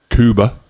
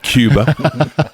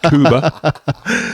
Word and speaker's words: Kuba: Kuba, not Cuba, Kuba.